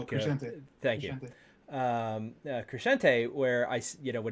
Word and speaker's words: Crescente: How do you pronounce Brian's last name? Crescente.